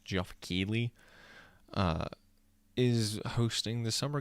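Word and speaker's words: Geoff Keighley: so i don't know how to pronounce his name it's like g-e-o-g-f jeff keely uh is hosting the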